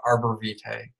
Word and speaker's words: Arborvitae: out everybody tonight the essential oil topic is Arbor Vite it's that's how it's pronounced it's hard to spell for those of